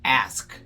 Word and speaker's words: ask: Você está coberto de razão se você falar para mim que a pronúncia correta é ask.